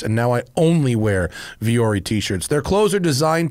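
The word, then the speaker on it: Vuori: brought to you by viori I love viori and it's spelled v-u-o-r-i it's not a very radio friendly brand to advertise is it because it sounds different than it is but viori is great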